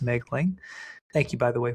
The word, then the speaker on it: Moegling: last name is spelled M O E G L I N G pronounced Megling.